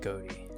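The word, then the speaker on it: ghoti: of the great beyond keep in mind that fish it spell in this case is spelled g-h-o-t-i I think they did a Reveal video where they pronounced it goatee but that's but antithetical to the entire purpose of the meme that they named it after okay in that case I will be calling it goatee from now on I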